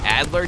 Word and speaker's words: Adler: spelled or that I kept saying the Adler tag as the Alder tag yo I was in such a rush yesterday and I kept mispronouncing it I'm sorry for anyone